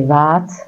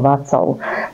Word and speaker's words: Vác: ktorý vznikol v meste vác alebo Niekedy sa to vyslovuje po slovensky aj ako vacov dneska je to na